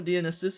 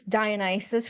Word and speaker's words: Dionysus: Dionysus is that guy, non-gendered. I actually did not know that was how you're supposed to pronounce his name. I thought it was Dionysus for the longest time, and only relatively recently